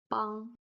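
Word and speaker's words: 帮: So b, on, is pronounced bang, bang.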